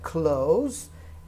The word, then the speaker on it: clothes: not here and it's uncountable attention to the pronunciation now remember said close and clothing now cloth wow and cloth wow